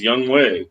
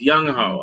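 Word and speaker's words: Younghoe: I don't even care if people want to sit there and say his name's Young Wei. No, it's Young Ho, all right? If I'm not mistaken.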